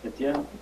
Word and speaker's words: Kagame: I didn't mispronounce it? Kagame Yes. E T G E N Kagame Uh I was looking at one of